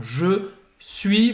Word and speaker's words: suis: Então, je suis. Você não vai pronunciar esse S no final de suis.